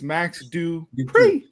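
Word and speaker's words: Max Dupri: uh what's his name max dupree max dubree i'm gonna call him ellie knight you're saying it wrong it's max do you pray because he's the one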